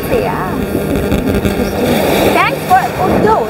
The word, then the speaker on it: Uddo: Thanks for Uddo, right? Uddo, like. Thank you. Well, finally हमने सही pronunciation सीख ली, वरना अपने मन से उड्डो उड्डू उड्डू कुछ भी बोल रहे थे।